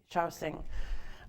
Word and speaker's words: Shaoxing: Shaoxing.